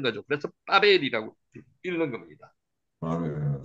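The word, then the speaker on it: בבל: 그래서 빠벨이라고 읽는 겁니다. 빠벨.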